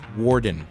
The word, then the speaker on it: Worden: in the Maryland area and talk to a gentleman by the name of Worden. Did I pronounce that, correctly?